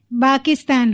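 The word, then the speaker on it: باكستان: آپ کا ملک پاکستان، جو کہ باکستان ہو گیا یہاں پر کیونکہ پا نہیں ہے نا، اس میں پے نہیں ہے.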